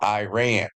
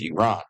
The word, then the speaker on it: Iran: Or as you Americans call it, Iran. But around the world it's known as Iran, okay? It's proper pronunciation.